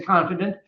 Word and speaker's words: confidant: confidant Confidant well actually we'll say confident but it's spelled with an a instead of an e and that's a person